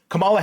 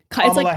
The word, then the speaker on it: Kamala: I I have a little clip here where Camala Harris I don't know if you guys have seen it during her did I pronounce it? Sorry. Uh Kamala Harris.